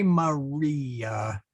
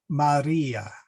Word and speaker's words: Maria: R is rolled a bit, similar to Spanish. So we don't say, well, you can say Maria, but that's a little, what shall we say? Low class. Yeah, there we go. We want to say Maria.